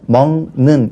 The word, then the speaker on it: 먹는: 바뀌어요 먹다라고 되죠 먹지 또 뒤에 는이 올 때는 먹는 해서 먹의 기억이 이응으로 바뀝니다 그러나 어법에 맞도록 한다라는